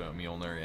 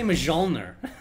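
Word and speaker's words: Mjölnir: I say Mjolnir. I think Mjolnir is the correct way to say it, but you know, it's a very heated discussion about that word as well.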